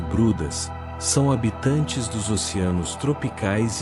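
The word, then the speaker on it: Bryde: As baleias de bridge, pronúncia-se brudas, são habitantes dos oceanos tropicais e subtropicais.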